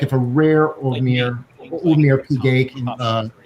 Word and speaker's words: Audemars Piguet: I mean, I can certainly see a brand like, pick your favorite, like if a rare Audemars Piguet, how do you say it? Audemars Piguet. Audemars Piguet, thank you.